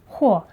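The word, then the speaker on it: 和: Whether you're mixing to make it stick or not, H is the only pronunciation used.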